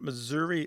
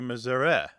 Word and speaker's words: Missouri: Missouri or Missouri ah they say Missouri more like that e in get or met yeah and that readily lends itself to becoming a schwa so there are actually